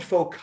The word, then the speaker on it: foci: made la sense me this is called foci if i wanted foci i would actually have to use a k it's actually that simple it's foci is plural for focus now you actually already